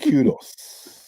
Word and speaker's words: Kudus: Kudos.